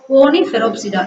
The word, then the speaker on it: Coniferopsida: Coniferopsida எப்படி pronounce பண்ணா? Coniferopsida. மொத்தம் 6 syllable இருக்கு. Okay, எப்படி? Listen. CO, NI, ni, FE, fe, RO, ro, ROP, rop, SIC, DA, da. Okay, so Coniferopsida.